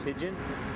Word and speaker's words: Hagen: The language some of them speak here is Hagen, and it literally is how you say it is how it's spelt.